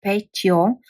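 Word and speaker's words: Петьо: person, we can say Petio if we are close enough. Then this yo is this yo. Petio. So this yo is only and only after consonant.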